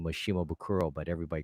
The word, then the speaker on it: Shimabukuro: first name wrong okay it's Shimabukuro right shimabukuro be like yes yes you got it perfect she mobile crow and they're going to